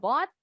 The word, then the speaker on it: bought: UGH-nya nggak bunyi. Tadi di awal Miss bilang. Silent letters itu bisa 1 huruf atau 2. Kadang-kadang juga ada 3. 3 huruf yang nggak bunyi. Nah, contohnya yang ini nih. Jadi kita bacanya cuma BOT.